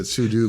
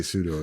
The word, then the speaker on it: sudo: So I'm of the same way and I can't defend it because I know that sudo makes a lot more sense. But yeah, I say pseudo as well.